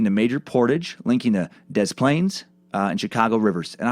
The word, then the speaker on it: Des Plaines: I thought it for sure would be like Des Plaines. But apparently, the locals have decided to fuck the French pronunciation and call it Des Plaines, according to several videos I found.